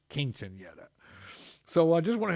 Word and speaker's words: Quinceañera: And it's not pronounced Kitchenetta, it's Quinceañera.